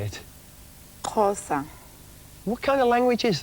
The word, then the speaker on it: Xhosa: language you're speaking how do you say it xhosa what kind of language is that it's got